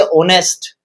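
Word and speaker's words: honest: क्योंकि यहां आवाज आ रही है ऑनेस्ट। ऑनेस्ट। ऑनेस्ट ये ऑनेस्ट नहीं है। मैं इसलिए कहता हूं कि आप स्पेलिंग पे ध्यान नहीं दें कि एच से स्टार्ट हो रही है या बाई से स्टार्ट हो रही है। ये ध्यान नहीं देना है आपको। आपको ध्यान देना है साउंड पर।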